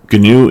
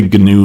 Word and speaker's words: GNU: Um, it's actually GNU Linux, which stands for GNU's, not Unix. And yes, it's pronounced with a hard G.